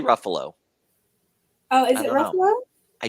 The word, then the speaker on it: Ruffalo: We're gonna go with rhymes with Buffalo. Mark Ruffalo.